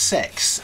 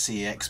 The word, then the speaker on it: CeX: cex or which i believe uh is actually pronounced sex um even though everyone says cx but it's actually technically called sex uh for